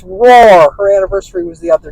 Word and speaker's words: Rohr: I couldn't remember how to pronounce it. Thank you, Bonnie. It's Rohr.